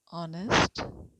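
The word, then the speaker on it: honest: नहीं है, बट क्योंकि ऑनेस्ट को हम जब प्रोनाउंस करते हैं, जब पढ़ते हैं तो ओ की साउंड निकालते हैं।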